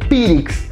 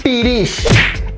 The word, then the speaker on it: pirix: escuchado tratar de decir pirix, que en realidad en yucateco se debe decir pirish. Es la traducción correcta, es la pronunciación correcta, pirish, que significa culo.